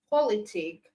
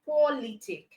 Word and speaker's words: politic: And then we have politic. Okay, so it means li is stressed in the three syllable words that end with tion, sion, and ic.